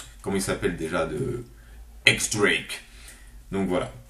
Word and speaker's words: X Drake: X Drake donc voilà il y en a qui me disent que ça se prononce j Drake moi c'est un X un X ça se dit x Drake c'est comme le chanteur donc je dis x Drake c'est tout bref bref